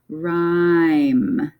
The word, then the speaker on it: rhyme: And the H does not make a sound in this one. So again, this is the first letter that's making a noise. So we have the word R, and then the Y says I here, rhyme.